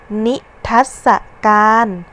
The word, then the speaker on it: นิทรรศการ: เสียง สระ อะ แล้ว ตาม ด้วย เสียง ตัว สะกด มาตรา กด ค่ะ อ่ะ มี คำ ที่ 8 นิทรรศการ อ่าน ว่า นิทรรศการ คำ ว่า ทัศน์ มี พยัญชนะ สอ สา ลา